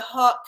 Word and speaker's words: haute: that many of the haute couture, and that's, it's not spelled like hot, H-O-T, it's like some French way of spelling it.